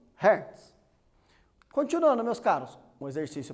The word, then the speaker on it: Hertz: Algumas pessoas pronunciam Hertz. Não tenho certeza, mas pelo que eu entendo um pouquinho do alemão, Hertz.